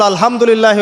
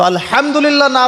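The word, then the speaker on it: الحمد لله: তো আলহামদুলিল্লাহ না বলে সে বলেছে আলহামদুলিল্লাহ। তো যে হায়ের উচ্চারণ পরিবর্তন হয়ে গেছে, এই কারণে অর্থ পরিবর্তন হয়ে দাঁড়াবে যে সমস্ত নিন্দা আল্লাহর জন্যে, যিনি জগৎসমূহের রব।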